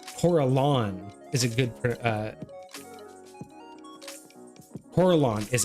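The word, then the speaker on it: Corellon: uh fights um coralon is a good uh coralon is how it's pronounced Coraline not it's coralon coralon gotcha for a lot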